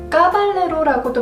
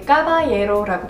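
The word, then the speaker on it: Caballero: 까발레로라고도 많이 발음하실 것 같아요. 근데 까바예로라고 발음하는 거고요.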